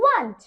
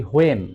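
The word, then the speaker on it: when: Which book do you want?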